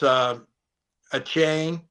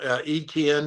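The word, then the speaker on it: Etienne: After that, they did like uh Travis u a chain. I think that's how he's pronouncing it now. ETN is what he was pronounced for years.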